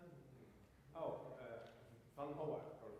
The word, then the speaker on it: Vanhauwaert: Okay, and also, how do you pronounce it? Oh, Vanhauwaert or Vanhauwaert.